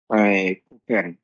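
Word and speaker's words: Kuchen: কুকেন। কুকেন, কারণ কি এটা উ এর পরে আছে, তাই এটা উচ্চারণ খ এর মতো হবে, কুকেন।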